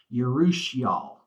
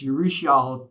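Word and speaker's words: urushiol: so we have this thing called um uh it's spelled u r u h i r l yusal it's a toxin that's found in the poison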